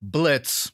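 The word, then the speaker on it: Blitzo: was a part where blitz and I'm remembering the O is silent was talking about his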